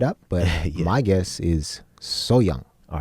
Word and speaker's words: Sohyang: lets us know that when it's pronounced fast the H is left out a lot of times like so young so